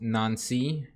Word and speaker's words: Nancy: so finally you install first competitive match against none see yeah this is gonna be a first competitive match against Nancy you should that's the pronunciation apparently the playing